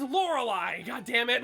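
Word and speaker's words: Lorelei: school Pokemon glitches work he pronounces laurelai as lauray and it makes me want to grow him with a panel wire like whoa cuz it's laurelai God damn it like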